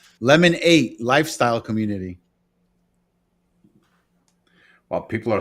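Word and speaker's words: Lemon8: Oh, Lemon 8. Oh, okay. Oh, That's it's not very lemonade. It's lemon 8. Yeah, Lemon 8. Lifestyle community. Ooh. That's what the app is called. Lemon 8 Lifestyle Community.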